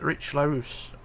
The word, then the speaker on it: Richlarrousse: I pronounce it Richlarrousse.